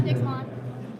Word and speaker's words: Dixmont: From Dixmont, Maine, Heather Swindler. Is that how you say it? Is there any? Dixmont? Yeah, Dixmont. Dixmont. Emphasis on the mont.